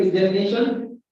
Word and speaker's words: examination: So this is 5 selective word, and the primary stress is on 4 syllable, and the secondary stress is on the second syllable.